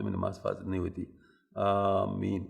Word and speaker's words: آمین: آمین الف کے مد کے ساتھ، اس طرح کہنا سنت اور افضل ہے.